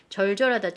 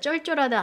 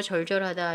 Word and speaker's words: 절절하다: 절절하다, 쩔쩔하다 아니에요. 절절하다 이렇게 되는 겁니다.